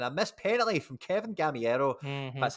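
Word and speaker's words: Gameiro: him before and i missed penalty from kevin gamiero that's how you say his name i can't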